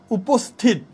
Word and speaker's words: উপস্থিত: ওকে এটা হচ্ছে উচ্চারণ উপস্থিত উপস্থিত এইযে আমরা কিন্তু উপস এবং এইচ এর মত না এটা শুধু এস এর মত উচ্চারিত হচ্ছে উপস্থিত এজন্য এখানে আমরা